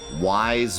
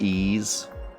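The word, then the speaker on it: Ys: getting started number 87 Wise book one and two it's actually it's pronounced ease ease book 1990 this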